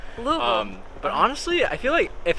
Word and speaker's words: Louisville: You kind of have to slur it. But Yeah, Louisville. yeah, but that's the only tell that I'm from. Do you think people will think I'm from Louisville if I say it like that? If you struggle with it, no. It doesn't come naturally. They're gonna call you out immediately. It has to be Louisville.